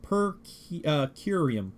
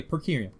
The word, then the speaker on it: per curiam: It's pronounced per curiam. Okay, per curiam.